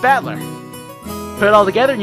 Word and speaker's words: Battler: own name that is made up of the characters for fight and person so it's pronounced battler put it all together